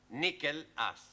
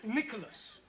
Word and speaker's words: Nicholas: upon a times there was a man called nickel ass that's not quite right no no once upon a time there was a woman called Nicholas it's pronounced Nicholas so right once upon a time there was